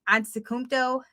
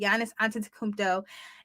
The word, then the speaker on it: Antetokounmpo: I always mess up his last name, but Antetokounmpo, I believe is how you say it. Giannis Antetokounmpo.